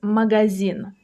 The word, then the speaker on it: магазин: The next word we'll cover is magazin. Magazin. That's a shop or a store. For example, я иду в магазин. I'm going to the store. The stress falls on the last syllable.